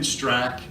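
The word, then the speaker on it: Straka: The A is silent, so Brandon Strack, and he's organized this march and rally in Washington, D.C.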